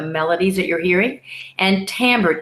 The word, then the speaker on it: timbre: that you're hearing, and timbre, Timbre, using the French term. It sounds like as if it's spelled differently because that's French for you, right?